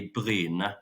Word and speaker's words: Bryne: So it's Bryne. It's Bryne, I guess, or Brune or something in English. In Norwegian local dialect, it would be Bryne. So Erling Braut Haaland would say Bryne.